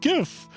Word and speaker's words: GIF: like it's a g it's going to be pronounced GIF G that's a g sound not a sound G that's literally me